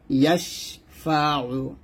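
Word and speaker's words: يَشْفَعُ: ইয়াশিন জবর ইয়াশ, ইয়াশ বাতাস, ফা জবর ফাইন পেশ, মান যাল্লাযী ইয়াশফাউ, এই যে এখানে আইনের উচ্চারণটা একটু চাপ দিয়ে বলবেন, ইয়াশফাউ এরকম। মান যাল্লাযী ইয়াশফাউ, রিং গুণ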